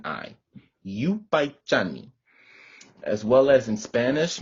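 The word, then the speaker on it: yupaychani: next word i have for you all is you paichani this means thank you in kichwa so that's yupaichani y u p a y c h a n i you by johnny as well as in spanish many of you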